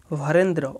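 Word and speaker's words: Varendra: নাম্বারটা হচ্ছে বরেন্দ্র কলেজ যেটাকে হচ্ছে ইংলিশ থেকে উচ্চারণ করলে হবে ভারেন্দ্র ভি এ আর ই এন ডি আর এ ভরেন্দ্র 10 নাম্বারটা হচ্ছে কোর্ট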